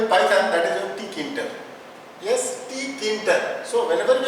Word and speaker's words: Tkinter: So whenever we are going for this one, so we break up this word in three parts. First is T, second is kin and last is your ter. So we pronunciation that tkinter.